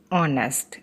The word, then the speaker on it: honest: Now in this example, H is silent and we pronounce the word as honest. That means the sound of O. And O is a vowel, that's why an honest.